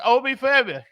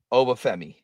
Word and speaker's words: Obafemi: Steve had him at number 4, and it's Obi Femi. I can't never say his name. Go ahead. You can say it. Obafemi. There you go.